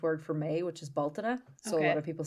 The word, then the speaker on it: Bealtaine: as the Irish word for May, which is Baltina. So a lot of people say Beltane. Yeah, I've heard of Beltane. But like we would pronounce it Baltina.